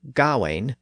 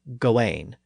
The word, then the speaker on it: Gawain: Generally speaking, the A-I-N spelling represents the ain sound in modern English, as in words like pain and chain and stain. So the most common modern pronunciation is either Gawain or Gawain, depending on which syllable you stress.